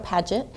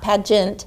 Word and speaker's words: Paget: I am here with Miss Cheryl Paget, not Pageant, Paget.